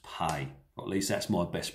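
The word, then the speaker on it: פ: up this section is pay normally spelled p e if you put it in english but it's pronounced pay at least that's my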